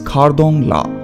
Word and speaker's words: Khardung La: Khardung La or Khardung Pass is a mountain pass in Ladakh region of Indian state of Jammu and Kashmir. The local pronunciation is Khardung La or Khardung La.